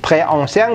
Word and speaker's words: très ancien: Le temple Borobudur est très, nah ini très ancien bacanya jadi très ancien gitu. Disambung juga, liaison seperti halnya ini tadi ya. S di tengah dua huruf hidup itu menjadi Z gitu.